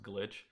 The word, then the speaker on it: Glytch: like on everything so i just replaced the eye with the y um because i know that even though it's not how it spell like you still will pronounce it properly so it didn't really